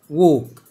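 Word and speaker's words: walk: دائما كلمه يمشي ها برض الايه جاي وراها ايه الال اهو اللي انا عامل عليه علامه اكس يعني معناها مش هينطق زي كلمه وك برافو كلمه جاهز ها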